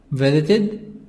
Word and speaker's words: visited: Visit, visited, visited. Visited, ed. The sound here of ed is ed. نخلي بالنا للإيد هنا عشان قبلها حرف التي فان في تصريف الفاء هتتنطق اد.